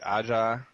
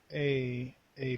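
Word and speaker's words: Aja: let me see if I say this right AA is that how you say it yeah yeah AA okay the Asian-American Foster girl who grew up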